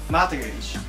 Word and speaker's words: mortgage: Mortgage. Yes. Ooh, ho, ho, ho. No. Mortgage. Ah, mortgage. Mortgage. Mortgage. Mortgage. Mortgage. Mortgage. 最後 G-A-G-E やもん。なんで読み方が G-I-J みたいな。